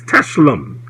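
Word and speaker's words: tselem: And the word here for image is teshlem. Teshlem. T-S-E-L-E-M. T-S-E-L-E-M. And for your pronunciation's sake, the phonetic spelling is T-S-E-H dash hyphen L-E-M.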